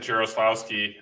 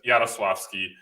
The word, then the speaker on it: Jarowslaski: guess americans pronounce it giroslavsky uh the the correct way the way they pronounce it in poland is yatoswavski so it's a it's